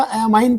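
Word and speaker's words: ammine: लाइग्ड को क्या पढ़ते हैं? अमाइन। यहां पे अमोनिया नहीं है।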